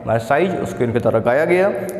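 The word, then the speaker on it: Marseillaise: ठीक है, MARSELLAIS spelling याद रखना जरूरी है इसकी। ठीक है ना, तो जो एल साइलेंट रहेगा इससे मर्साइज सॉन्ग गाते हैं, जो कि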